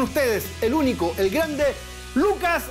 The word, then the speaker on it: Luka: ¿Lucas o Luca? Luca. Lo que pasa es que me inscribieron mal en el registro civil porque en Croacia la C se pronuncia C. O sea, yo sería Lutzas.